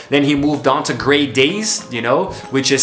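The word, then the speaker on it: Grey Daze: there as well then he moved on to great days you know which is spelled differently but you pronounce it great days you know like the day that's great you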